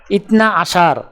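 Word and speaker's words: اثنا عشر: আরবি ক্রমিক সংখ্যা 12 দেখতে এরকম, উচ্চারণ হবে ইতনা আশার।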